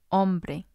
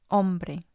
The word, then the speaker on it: hombre: letter h for example hombre hombre huevo huevo the h doesn't make a sound it's just the vowel sound there are situations where